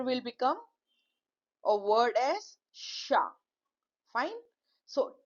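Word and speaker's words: chat: Now the letter will become a word as sha. Fine. So T is not pronounced most of the time in French.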